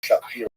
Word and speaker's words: Shapira: Rabbi Shapira is the common English translation name, although it really would have been pronounced Shapiro in Poland, and he would be